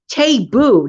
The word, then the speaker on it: Tabu: my laundry experience with my Tabu it's all pronounced it as table table taboo not table wake up Jen taboo portable washing machine it's